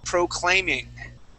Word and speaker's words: proclaiming: It goes on this A.